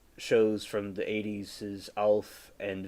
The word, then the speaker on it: ALF: Erin said, "I love that alien keeps pronouncing it like an acronym. Alien. It's ALF, like a name."